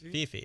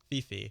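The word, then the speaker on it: Phi Phi: Is Fifi. Yeah. I like blanked. I was like Coco, not Coco. Two syllables. 2 syllables. Fifi. Gotcha. Who, if you didn't see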